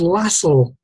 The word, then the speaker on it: Lassell: pronunciation of his surname the connect pronunciation is lasso um but i prefer lasalle he fascinated me for